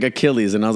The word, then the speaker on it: Achilles: Not a Chili's, it's Achilles Art Cafe. Bruh. I literally was like, how do you pronounce this? He's like, Achilles.